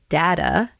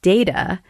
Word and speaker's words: data: to our listeners that I pronounced it data, and I think you pronounced it data, and that they're both correct, and that you can say that word D-A-T-A, data or data, and you can use both. Sometimes I say data, sometimes I say data. Just depends on how you feel that day. So both pronunciations are correct.